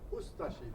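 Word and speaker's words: Ustaše: We pronounce it Ustashi. We pronounce the U and de-emphasize the Ashi.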